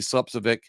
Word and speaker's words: Slepcevic: look up that interview, Slepcevic, as it's pronounced the English way.